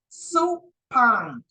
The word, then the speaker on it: supine: in a Supine position it's pronounced supine I had a student that tell me that they remember that because soup goes in a bowl and a bowl